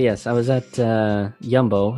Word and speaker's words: Jumbo: it's spelled jumbo but here they pronounce it yumbo because the dutch j is a y but anyway regardless of